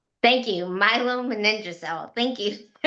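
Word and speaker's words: myelomeningocele: I never know how to say it. I feel awful that I can't say it, but I think that's how you say it. It's my It's It's Milo Maninja.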